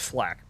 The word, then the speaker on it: flak: German flank. It's flak, sir. It's pronounced flak.